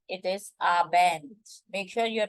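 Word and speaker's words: Abend: called as hen aent guten it is not aent it is abent make sure you're pronouncing it correctly guten abent goodnight is called as scoter KN hoter KN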